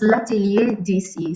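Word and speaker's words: lacierdc: to pronounce different so it's lately dc so it's like if you speak french you understand but for those who don't speak french it's l-a-c-i-e-r-d-c so i can find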